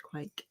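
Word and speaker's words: quaich: However you pronounce that. It's too small to be a quake. Quatch. Whatever. People are telling us it's pronounced quake.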